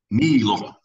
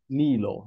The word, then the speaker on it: Niilo: We're here with Niilo of Insomnium. Is that how we pronounce the name? Niilo. Niilo.